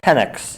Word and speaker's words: Penix: And UW quarterback Michael, how do you pronounce that? Penix.